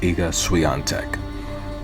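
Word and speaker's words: Iga Świątek: lot of tennis and depending on the announcer they're always guaranteed to pronounce eaga's last name differently so um from from my watching of so many hours of tennis i've come to pronounce your name as ika suyantek that's what most announcers say to be with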